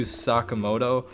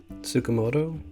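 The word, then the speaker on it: Tsukamoto: um sha I I should not even try pronouncing it shinya t Sakamoto nailed it sukamoto yeah it was close it was good enough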